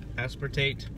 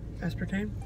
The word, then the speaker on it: aspartate: It's fructose, glucose syrup, honey, royal jelly, ginseng extract, citric acid, vitamin C, sodium aspartate. Aspartame? No, it's not tame, it's tate.